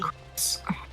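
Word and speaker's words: Kris: Now I gotta go defeat a pink-colored Marlboro called Chris, K-R-I-S. It'd also be pronounced Chris.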